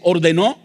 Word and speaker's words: ordenó: Y cuando comemos ese pan y recordamos lo que Jesús ordenó, acento en o énfasis en ordenó, pensamos en el cuerpo